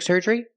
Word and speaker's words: surgery: Pronunciation, surgery. Use the sound like burger. Surger. Both vowels. Surgery. And a long E at the end, like green beans.